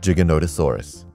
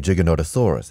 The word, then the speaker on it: Giganotosaurus: The name Giganotosaurus has nothing to do with gigantic. Giganotosaurus is Greek for giant southern lizard, not gigantic lizard, as it's often mistranslated and mispronounced.